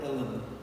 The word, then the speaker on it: uilleann: Liam O'Flynn says that the only English rhyme for the word uilleann, from Irish illa, meaning elbow, is the word villain.